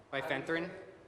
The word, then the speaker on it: bifenthrin: And the reason why I consider that is the bifenthrin. If I say it wrong, please correct me. Yeah. Bifenthrin?